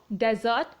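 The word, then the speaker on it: dessert: Right, now डेजर्ट एंड डिजर्ट. सो यहाँ पे slight pronunciation difference है, सो you must catch this point.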